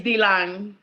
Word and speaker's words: Dilan: Thank you, Dillon. Woo! Or Dilan. Am I saying it? How do you say last? It's Dilan.